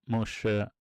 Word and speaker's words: Moshe: So Moshe is the way that um Hebrew say Moses. That's how it's pronounced in Hebrew in Egyptology as well.